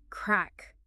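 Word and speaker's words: craic: but especially in those Lively Pub conversations cakic crack how do you even pronounce that it looks a little intimidating don't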